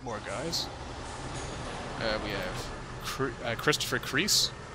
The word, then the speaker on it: Creese: We have Christopher Creese. Creasy. I always think that should be pronounced Creasy when I see it.